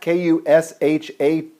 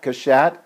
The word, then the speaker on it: Cachat: It's Michelle Cachat, Kushatt, rhymes with hat, Cachat, and just send her some love.